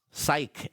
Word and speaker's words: psych: Pero ang talagang spelling non ay parang sa psychology Psy C. psych pero the way you have to to uh pronounce it is s a i k psych ang ibig sabihin po